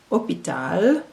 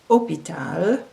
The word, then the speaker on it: hôpital: Remember that the H in French is silent. So the first word is the French word for host, hôte, hôte, hôpital, hôpital, hôtel, hôtel, rôle, rôle, fantôme, fantôme.